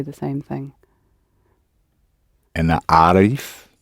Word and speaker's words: عارف: أنا عارف. The emphasis is on the first bit with the male, but the emphasis on the first bit of the word.